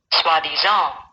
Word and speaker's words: soi-disant: I already know how to pronounce it, but for your benefit, I'll play it. Soi-disant.